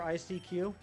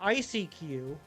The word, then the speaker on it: ICQ: Anyone remember ICQ? It's not ICQ, like I mispronounced the Pokemon name. It's ICQ as in I seek you.